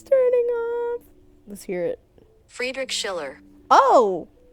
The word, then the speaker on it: Friedrich Schiller: Why when the last name comes I can't Frederick Schiller? My brain's turning off. Let's hear it. Friedrich Schiller. Oh, butchered the whole name, girl.